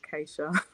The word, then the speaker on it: Keisha: also on facebook which is wiggle waggle with acacia k-e-i-s-h-a it's spelt like keisha but it is pronounced acacia my parents west india i get it they